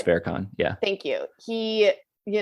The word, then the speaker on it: Farrakhan: more left-leaning like louis farrakhan i don't i don't think i pronounced that right louis fair con yeah thank you he